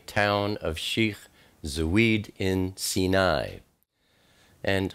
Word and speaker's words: Sinai: of shik Zid in sini and I know many people say Sinai but I use the ancient pronunciation so just be aware